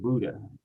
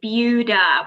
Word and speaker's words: Buda: I also pronounce it Buda, which I was told, I also pronounced it incorrectly when I moved to Austin, and I was told Buda.